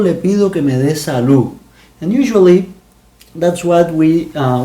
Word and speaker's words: salud: When a word ends in a D, we say, for example, salud. We don't say salud. That is the correct way to say the correct way to say it, but we say salud.